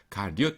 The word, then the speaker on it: 가룟: 리옷 이게 요예요. 오 아닙니다. 가끔 가다가 발음을 가론 유다 그러시는 분이 있어가지고 가룟 유다예요.